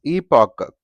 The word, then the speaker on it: epoch: So such, much, this is epoch, c.